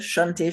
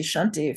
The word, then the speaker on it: Shanti: It's actually not the Shanty Shanty. Shanti from the mantra because that's a word that means peace.